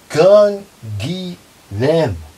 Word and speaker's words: Canguilhem: Nobody knows him, and even those who do know him often fail to pronounce his name. Come on, that's not that hard. Canguilhem.